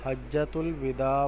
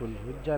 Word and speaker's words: حجۃ الوداع: پہلا سبق ہے ہمارا حجۃ الوداع وارو خطبو، یہ اس کا صحیح تلفظ ہے حجۃ بعض طلبہ پڑھتے ہیں حجۃ الحجہ نہیں پڑھیں گے بلکہ پڑھیں گے حجۃ الوداع وارو خطبو۔ تمام طلبہ سے امید